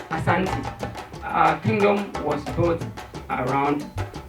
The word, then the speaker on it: Asante: The British couldn't pronounce our word. As my friend was trying to, even he's from Africa, you couldn't say it. The British called it Ashanti, but it is Asante.